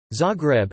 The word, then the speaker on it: Zagreb: Zagreb, Z-A-H Greb, Croatian pronunciation, Z-Reb, listen, is the capital and the largest city of Croatia.